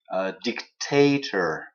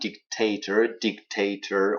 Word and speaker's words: dictator: euh, democracy, regime, totalitarian, dictator, hein, dictator, on a trois syllabes, et bien c'est la deuxième syllabe qui est accentuée.